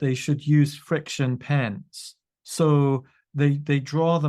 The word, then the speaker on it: Frixion: A friction pen is spelled Frixion, just so you know.